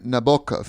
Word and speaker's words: Nabokov: be like you know they say Vladimir Nabokov Nabokov Nabokov it's not Nabokov Vladimir Nabokov the book of like